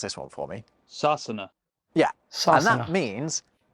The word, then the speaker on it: Sasana: The Irish Gaelic name for England is, well, hold on, I actually got an Irish friend, Arthur, to pronounce this one for me. Sasana.